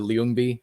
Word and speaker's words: Ljungby: Sweden, have you guys ever been out to Ljungby over there?